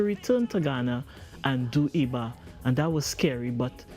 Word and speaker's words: Iba: I know most people say IBA, but it's a Yoruba word that means to give praise and honor, IBA. So Yoruba being a tonal language is pronounced Iba.